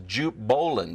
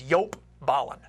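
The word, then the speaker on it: Jelle Bollen: talk about eb5 and the guy that many people are referring to is Jupe Bolin but that's not the right that's not who he is people in the know tell me the proper pronunciation of yelp's name is yop Ballin yop Ballin yes that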